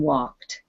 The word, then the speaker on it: walked: the other one here don't pronounce the l in walked okay good all right